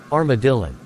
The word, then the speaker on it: Armadillon: I think his name rhymes with Karma Villain. Oh, that's right, Armadillon.